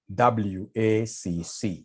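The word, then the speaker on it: WACC: can somebody remind us here there's somebody who pronounced this as wakaka wakaka no is supposed to be wac to get wac we normally take the weight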